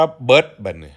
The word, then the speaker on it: เบิด: ครับ ต่อ ไป ครับ เบิร์ด คือ กัน แต่ ว่า ออก เสียง ว่า เบิด ลอง ว่า ดู ครับ เบิร์ด คำ ว่า เบิร์ด